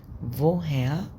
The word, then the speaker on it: woher: بقت فوهير كومست دو فوها كومست دو الار في فوها ما بننطقش الار عشان قبلها فوكال اللي